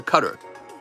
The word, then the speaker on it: Qatar: sure been there nice it's pronounced cutter that's what I thought and uh yeah